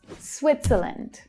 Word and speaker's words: Switzerland: Switzerland. Switzerland. So our strongest syllable is swit. It's a short vowel sound, but we have the consonant cluster s, w.